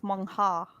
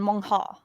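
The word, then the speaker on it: manhwa: n w H A I think the word you're writing I would pronounce is mong ha hold on let me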